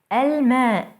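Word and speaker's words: الماء: by a moon letter alma the water alcalbe alcalde the dog el wered el word the flowers notice how moon letters allow the l to be pronounced fully i hope this was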